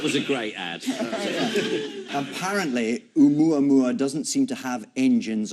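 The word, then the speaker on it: ʻOumuamua: don't know how it's pronounced. Oumuamua. Oh, really? Yes. Actually, I'll take it back. Oumuamua, which loosely means a messenger that reaches out from the distant past.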